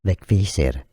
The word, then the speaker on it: Vegvísir: In Icelandic, it's said Vegvísir. Vegvísir.